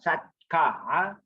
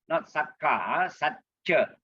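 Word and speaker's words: sacca: Remember C is pronounced as CH, not satka, satcha.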